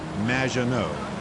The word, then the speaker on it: Maginot: It's Madge, which rhymes with badge, as in duh, and no as in more than you. Maginot.